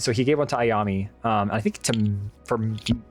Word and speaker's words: Ayami: Um, and mainly he wanted to give these one of these to Ayame. Um, I'm saying her name wrong. Um, Ayami.